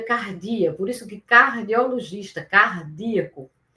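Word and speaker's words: καρδία: em hebraico leve e em grego se pronuncia cardia, por isso que cardiologista, cardíaco.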